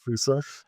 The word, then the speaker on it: Foossa: And actually, Lushan, do you want to tell some of the story of how we alighted on the correctly pronounced Fusa? Indeed, yeah. So Foossa we're named after an animal from Madagascar.